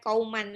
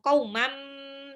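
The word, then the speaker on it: قوما: Tanwin ketemu sama mim itu namanya idgham bil gunnah. tanwinnya lebur ke mim, jadi bukan kauman lagi, tapi langsung kaumam, tapi ditahan 2 sampai 3 harokat.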